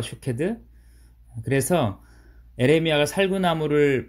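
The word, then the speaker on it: שוקד: 살구나무는 히브리어 발음으로 샤케드라고 하는데 지켜보다라는 히브리어 발음이 쇼케드입니다. 샤케드와 쇼케드.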